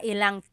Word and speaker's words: ilang: And up here, I just wanted to show you, you can make a contraction again. Instead of mga ilan na tao ang darating, it's mga ilang tao ang darating.